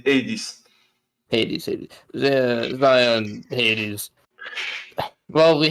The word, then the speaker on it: Hades: it's Hades.